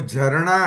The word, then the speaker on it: झरना: वो झरना है, ओह। झारना नहीं है।